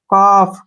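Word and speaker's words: calf: एल ठीक है ना तो हमने एल को नहीं पढ़ना है सी से बना का और एफ से बना फ काफ क्या पढ़ेंगे इसको काफ काफ होता है बछड़ा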